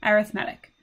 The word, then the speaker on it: arithmetic: It looks like the word arithmetic. In fact, they're spelled exactly the same, but it's pronounced a little bit different, arithmetic.